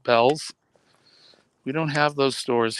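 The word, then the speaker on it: Bealls: Looks like Beals, but they pronounce it Bell's.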